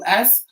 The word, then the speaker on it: Haus: House not spelled like house, but house spelled the German way, Haus.